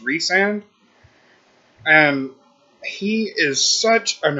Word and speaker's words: Rhysand: But I'd have to say my second favorite would be Rhysand, and I was calling him Rhysand for some reason, just because of how it's spelled, but it's apparently pronounced Rhysand.